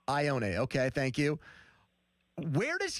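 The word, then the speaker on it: Ioane: Yeah, Ione. Ione.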